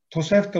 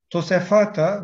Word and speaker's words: Tosefta: Tosefta olarak biliniyor. Kullanılan bu kelime aslında Aramice'de Tosefata veya Süryanice Tavsefta olarak telaffuz edilmesi mümkündür.